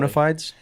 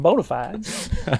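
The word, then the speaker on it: bona fides: I'm bonafides. Uh yes, both are correct pronunciations of the term, to be clear.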